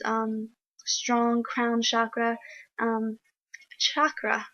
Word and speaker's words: chakra: strong Crown chakra um chakra I learned it to pronounced that way from cute witch the other day chakra